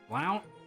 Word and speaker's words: Blount: ] Blount Blount Mansion Blount is it pronounced Blount cuz I can't get over that Blount plount Mansion Blount that probably G Street Bridge pronounced blunt that's disappointing that's quite